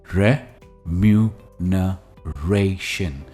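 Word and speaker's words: remuneration: कहते हैं सैलरी पर इसकी प्रोनंसिएशन है र मन रेशन रे पर इसका स्ट्रेस है एंप्लॉयज एक्सपेक्ट फेयर रिमुनरेट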